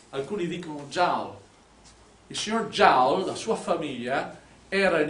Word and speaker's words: Joule: Il signor Joule, la sua famiglia, era in Inghilterra da centinaia di anni. Lui, i suoi avi erano francesi, ma da generazioni erano in Inghilterra e la pronuncia inglese è Joule.